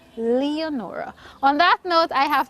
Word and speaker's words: Leonora: also teaching you um Lenora is in a sense the Creole pronunciation for it but of course the word is spelled Leonora so if we're doing um if we're practicing English you say Leonora on that note I